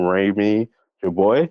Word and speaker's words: Rami Jarboui: Please welcome Rami Jarboui, right? Is that how you Yeah, pronounce Rami it?